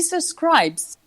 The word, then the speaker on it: subscribes: He subscribes. Don't forget the S. He subscribes, he decides.